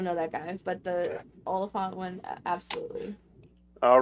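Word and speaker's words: Olyphant: Oliphant. Yeah. Oliphant. Yeah, because I always said his name wrong.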